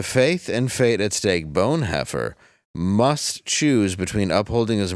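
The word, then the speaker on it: Bonhoeffer: Hofer um what wait I think you're mispronouncing the name I think what you're you're looking for is bone heer okay yeah that makes that makes sense yeah see Pastor spy assassin bone it's like French yeah bone yeah it's like bone like a bone you know the German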